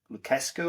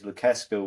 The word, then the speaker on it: Lucescu: teams, and his unofficial mentor was coach Maestro Lucescu, I think it's pronounced, who's Romanian, and he brought him into